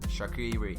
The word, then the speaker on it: Xherdan Shaqiri: Shaqiri is the way I say it. Almost Shakira, but Shaqiri.